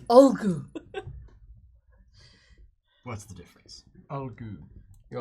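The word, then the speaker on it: Ulgu: It's not oogity boogity. It's Olgu.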